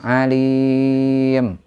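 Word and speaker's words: عليم: itu jelas kemudian terakhir Alim Alim itu adalah Mad Arid lisukun panjangnya bisa empat atau en harakat Nah itu ya Jadi dibacanya panjang alim atau lebih panjang lagi Alim Nah itu enam harakat ya demikian untuk tajwidnya dan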